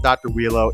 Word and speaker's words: Dr. Uiro: know it's spelled dr eurero but it's pronounced dr willow in in the world's strongest movie and all that stuff so i call him dr wheelo it's dr wheelo let me know what you